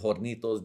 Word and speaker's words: Hornitos: You don't pronounce the H.